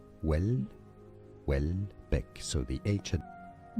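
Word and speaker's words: Houellebecq: Yes, ch in French is pronounced as essay. Michelle Michelle. Wellbeck. Wellbeck.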